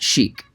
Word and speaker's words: sheik: british versus american pronunciation some people were saying that shake is closer to the original arabic pronunciation and i don't know for sure if that's the case but like many words when they transfer over to other languages the pronunciation also changes as well as the nuance or even its overall meaning in the united states where the 1920s slang meaning was popularized it was definitely pronounced sheik if you don't believe